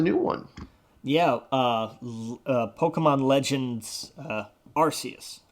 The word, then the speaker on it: Arceus: Yeah, Pokemon Legends Arceus. That will always be a soft C to me. I can't make that a hard sound.